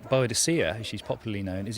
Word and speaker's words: Boudica: her people the name bodia as she's popularly known is in fact one of History's Greatest spelling mistakes she was uh almost certainly called bodika in the original Celtic pronunciation and the Roman historian